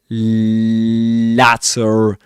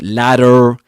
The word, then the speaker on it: latter: won't expect him to say latter not ladder right but latter because of his accent it looked prosperous and there was it looked prosperous it looked prosperous.